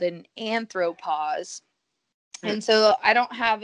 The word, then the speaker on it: anthropause: the missing po is it's still echoed in the pronunciation of pause so anthropos um this is very sciencey explanation of why you say anthropos but you know this